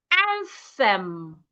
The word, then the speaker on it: anthem: So henceforth, those TH words that you'd ordinarily pronounce as a T, please put your tongue outside instead and pronounce them. Think, anthem, bath, cloth, I believe this is clear.